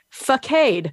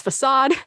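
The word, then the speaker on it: façade: chauffer that is chauffeur facade that is facade and apparently the indigenous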